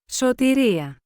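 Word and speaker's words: σωτηρία: The Greek word for salvation is pronounced as Sōtēría.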